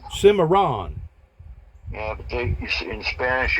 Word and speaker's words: Cimarron: where the guy made it up there in Seminar. Is that how you pronounce it? Cimarron. Cimarron.